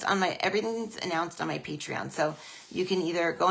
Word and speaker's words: Patreon: So Patreon is Patreon. It's patron, like a patron of the arts, but it's spelled wrong.